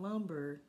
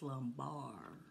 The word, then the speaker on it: lumbar: our lower back area remember it's not lumber like wood its lumbar right okay and there